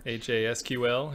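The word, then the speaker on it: Hasql: in my circle called haskell or high sequel i'm really not sure aj sql if you want to be real there we go h a sql um i thought i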